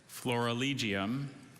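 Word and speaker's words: florilegium: that is correct hello dr bailey hi rahan flora legium flora legium can you please give me all the information sure floralegium is a noun from latin a floralegium is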